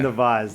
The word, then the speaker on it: Nawaz: People try to learn how to say it properly. So I'm like, why am I only calling you Nav? So I think I'm going to start calling you Nawaz. It's Yeah. Nawaz. That's the problem.